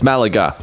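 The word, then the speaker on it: Málaga: correct me no that's how you say it's Malaga oh that's a nice little sign to see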